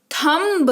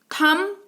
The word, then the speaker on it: thumb: और ये थंब नहीं, थम पढ़ेंगे। इसको क्या पढ़ेंगे?